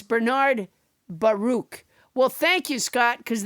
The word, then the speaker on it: Baruch: wall street investor bernard pronounced his last name baruch not bare ack as adam said sorry